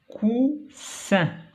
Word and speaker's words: coussin: donc cousin, coussin. donc la lettre qui change le son c'est S. Ici il y a une seule S. Cousin se prononce Z. Ici il y a deux S, se prononce S.